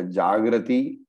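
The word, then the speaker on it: जाग्रति: So please note the difference in pronunciations between the Jagarti here and the Jagrati there. Okay, so there is no difference in the meaning, but its pronunciations are different for the purpose of the meter, the chanda.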